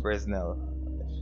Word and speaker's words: Fresnel: I'm gonna add diff spec, add env no Fresnel. That's how it's pronounced.